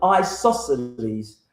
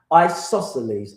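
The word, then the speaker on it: isosceles: It's called an isosles. Isoselles. I'm going to spell it for you.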